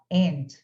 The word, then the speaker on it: aunt: Tem pessoas que vão pronunciar aunt, tem pessoas no inglês que falam aunt, mas no inglês americano, normalmente eles falam aunt, tá? Se escreve o aunt, como esse... Deixa eu colocar aqui a palavrinha. Lembra que escreve assim, mas no inglês americano normalmente falam and, tá? Como se não tivesse esse U aí.